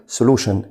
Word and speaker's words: solution: solution زي ما قلنا TION ده مقطع بنطقه شن فبقول solution يعني حل.